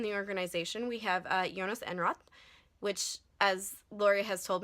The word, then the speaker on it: Enroth: Lori has told me, is not how you pronounce his name in Swedish, but there's no way I'm ever going to pronounce his name correctly in Swedish, so we're just going to go with Enroth.